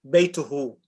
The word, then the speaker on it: بيته: No, his house, Baytuhu.